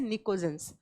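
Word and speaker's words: pnictogens: ये बात आप नोट कर लीजिएगा, लिखा जाएगा पी से, प्रोनाउंस किया जाएगा एन से, निकोजेंस।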